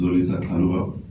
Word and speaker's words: Zolisa: My name is Zolisa. That's how you pronounce it.